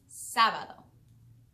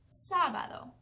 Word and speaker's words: sábado: The name for Saturday in Spanish is sábado. Sábado. Sábado. You try. Excellent. Sábado is spelled S, A with an accent, B-A-D-O. Sábado.